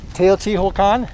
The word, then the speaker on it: Teotihuacan: Teotihuacan. Is that how you pronounce it? Exactly.